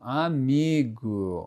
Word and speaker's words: amigo: algumas palavras, ou melhor, a maioria das palavras que terminam com o muitas vezes tem o som de u. Amigo, a gente escreve como amigo, só que a gente lê como amigo.